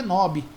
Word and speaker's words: knob: A gente fala knob, mas na verdade é knob, porque o K em inglês, quando começa uma palavra, ele não é pronunciado, né? Então é knob.